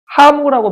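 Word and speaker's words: ハム: 하무라고 발음합니다.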